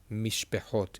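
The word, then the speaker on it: מִשְׁפָּחוֹת: And again, we have over here the mem mish, and they have the shin mish, and this is silent. And then this over here has a short e sound.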